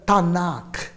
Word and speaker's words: Tanakh: only three divisions and the hebrew bible is called the tanakh say with me tanakh p a in a k h okay okay some people want to spell it t a in a ch however it's okay now i'll explain why tanakh but before that the